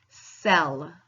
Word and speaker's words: cell: Ooh, and I know that because there is an E right next to it. The E does not have to be at the end for it to make the C say S. It'll just be right next to it, be like, yo, you better say S.